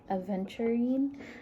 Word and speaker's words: aventurine: i looked it up it is pronounced aventurine like adventuring but without the d which i got right